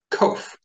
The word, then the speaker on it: qof: This is pronounced kof. You try saying that. Kof. Kof makes the sound of the Q in queen. It is one of the letters that drops below the baseline.